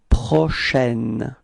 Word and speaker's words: prochaine: So, for the pronunciation, it's prochaine. It's open, it's A, okay?